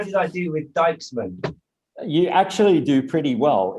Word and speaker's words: Dijksman: You're pretty familiar with how we pronounce the I and the J.